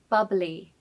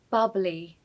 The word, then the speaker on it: bubbly: The ly on the end of the word is pronounced as lee, lee. So the word should be pronounced as bubbly, bubbly.